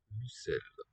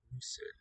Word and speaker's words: l'ocell: L'ocell. Lucel. O is raised to u. L'ocell. Lucel. In the tonic syllable.